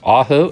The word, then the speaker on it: Ajo: get to it throughout this video the correct pronunciation is ajo arizona just five miles from the u.s